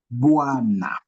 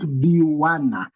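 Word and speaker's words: bwana: So bois, bois, na, not biwana. Don't say biwana or buwana. You say bois, na, bois.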